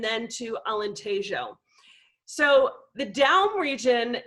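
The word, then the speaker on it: Dão: down region and then to alentejo so the down region it's d-a-o with like a tilde over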